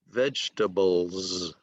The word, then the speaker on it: vegetables: Vegetables, vegetables, a Z sound at the end.